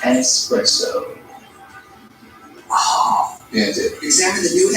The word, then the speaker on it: espresso: Dude, it's pronounced espresso.